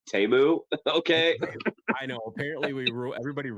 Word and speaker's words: Temu: He laundered his money through Temu. Yeah. Actually, it's pronounced Temu.